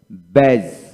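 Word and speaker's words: badge: তারপরে এখানে আসুন তারপরে ব্যাস ব্যাস বি এ ডি জিজ ডি উচ্চারণ হবে না ব্যাস তারপরে ওয়েজ ওয়েজ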